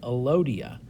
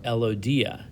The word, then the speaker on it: elodea: a common aquatic plant called an allodia or elodea depends on how you pronounce it so that's what